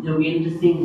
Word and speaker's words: जोगेंद्र सिंह: 8वी पासून बट मेरा जो नेम है सर ने वो थोड़ा ठीक से प्रोनाउंसिएट नहीं किया था, तो मैं क्लियर कर देता हूँ। मेरा नाम जोगेंद्र सिंह है, ठीक है।